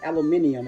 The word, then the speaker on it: aluminium: Little aluminum or aluminium, as the British say.